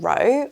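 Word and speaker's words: Rohe: from a brand called row r o h e I think that's how you say it um in this gorgeous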